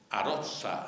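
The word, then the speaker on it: Aroça: crónicas le mencionan aroca que por escribirse para escribirse con cedilla se pronuncia con esa ong fonema que tenéis los andaluces y no en castellano de tierradentro lo tenemos a rosa rosa y por eso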